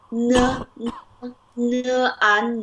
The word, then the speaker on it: 难: Nan ma.